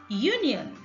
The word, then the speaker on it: union: A union, union. Initial sound is Y.